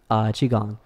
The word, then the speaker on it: Qi Gong: ok and then Gong is gon G ok chi gong and so that's basically connecting with energy and